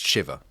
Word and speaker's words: shiva: I think it's pronounced shiva. Shiva. Shiva. I'm just thinking like, you know, the god Shiva, I think, rather than Yeah.